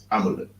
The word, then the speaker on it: Amalek: Amalek.